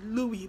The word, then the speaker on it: Louis: his name is louis louie like l-o-u-i-s but the s is silent so louie but i call him